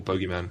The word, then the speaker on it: bogeyman: It kind of felt like that going in, like Pereira turned himself into this boogeyman on the feet. Or bogeyman, because I'm English. No, you say it properly.